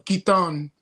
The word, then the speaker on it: Katon: And this week we have Kaitton of Hierax among others which we will get into shortly. So welcome Kaitton.